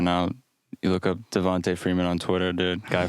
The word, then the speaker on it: Devonta: the message from Alex, technically it's Devonta. Oh, my bad. I'm pretty sure it's Devonta. Is it Devonta Freeman? Yeah, I don't know if he pronounces those last part of his first name Tay. I think it's Devonta.